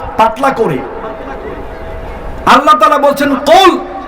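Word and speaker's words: قُلْ: আল্লাহ তাআলা বলছেন কুল, হে নবী আপনি বলুন। এই কাফকে মোটা করে উচ্চারণ করতে হবে।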